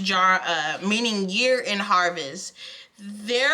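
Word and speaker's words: Jera: Jar, it's pronounced jar, meaning year in harvest.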